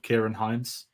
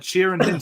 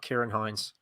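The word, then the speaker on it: Ciarán Hinds: the terrible pronunciation of Kieran Hines. It was like I don't know how they pronounced it, but I was like, that's not Kieran. It was something, or like Cheeran Hins.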